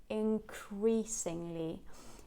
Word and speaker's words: increasingly: life and fast speech it will probably get assimilated before the following sound so that means we're not going to use the tip of the tongue to say no but rather the back of the tongue to say um because it's closer to the following so it's probably going to sound as ink ink increasingly increasingly um so take it